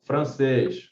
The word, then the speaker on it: francês: Se você separar corretamente essas palavras aqui, ó, francês, país, além e aliás, contando de trás para frente, o acento está sempre na primeira sílaba.